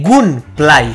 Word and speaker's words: gunplay: Y me ha gustado mucho, tiene la jugabilidad, el gunplay. Gunplay. De Gunplay, ¿vale? G-U-N-P. Exacto, no de Gameplay. L-A-Y. Que la gente dice. No, Gunplay. Es que Gunplay. Los tíos no saben pronunciar.